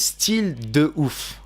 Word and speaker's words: Style de ouf: So the way you pronounce this, guys, is Style de ouf.